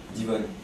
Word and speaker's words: Divonne: Divonne. It's very small. Next to Geneva is just... How do you spell it?